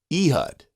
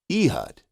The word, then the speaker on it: Ehud: The way you say that is Ehud, Ehud, Ehud.